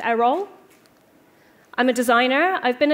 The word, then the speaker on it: Eriol: So I'm Eriol, pronounced Eriol.